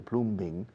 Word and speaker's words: plumbing: But if the plumbing doesn't work, the plumbing, con B muda en medio, plumbing, fontanería, if the plumbing doesn't work, then the sink doesn't work.